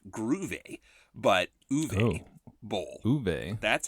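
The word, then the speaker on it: Uwe Boll: guest host Jonathan Rober reminded us the actual pronunciation of this director's name is uve like gr but uve Bowl uve that's how you say his name so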